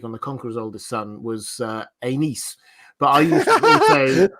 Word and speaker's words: Aenys: And obviously we have Aegon's oldest son, Aegon the Conqueror's oldest son, was Aenys. But I used to also pronounce that the other way, and so I've